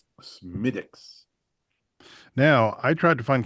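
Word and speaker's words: Smithwick's: In in the interest of uh accuracy on the Drinking with Friends podcast, it's pronounced Smidix. Smidix.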